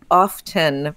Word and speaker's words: often: the fact is that the often pronunciation has become more and more common and is now heard in the speech that is least likely to be stigmatized is heard in the speech of what can be described as careful speakers um that has the T when it when that